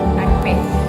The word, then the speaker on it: akpe: Akpe. Akbe.